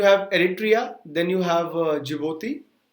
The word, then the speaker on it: Djibouti: Djibouti these salad guys it is pronounced as Djibouti and this is very